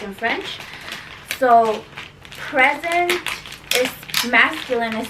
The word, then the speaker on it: présent: So present is masculine, is spelled Present. That's masculine, present, and you don't say the T, and that's masculine.